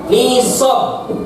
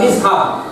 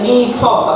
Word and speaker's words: nisab: Bagaimana menerimanya sudahah dibaca nih nisab bukan nishab dibacanya nisab Apa Nis inat Imam